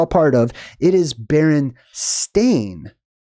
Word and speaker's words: Berenstain: part of it is Baron stain like a stain on the carpet I would never have